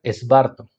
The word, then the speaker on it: Svarto: La palabra que está detrás de la palabra evangelio es esta expresión aramea que se pronuncia esbarto.